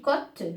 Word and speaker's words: côte: Donc ici, côte, l'hôpital, là aussi la prononciation de O, pardon, n'a pas changé. O, c'est O, même s'il a pris l'accent circonflexe.